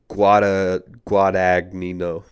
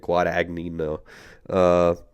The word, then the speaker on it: Guadagnino: I'll attempt it. Luca Guadagnino. I think that's actually is how you say it. Guadagnino.